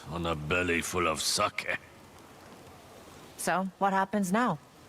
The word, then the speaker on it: sake: I'm out of saki. Sake. I need to get used to saying it correctly.